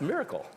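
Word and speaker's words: MRKL: of today's agents is uh Mr KL systems pronounced miracle the one-liner is multi-agent models some with reasoning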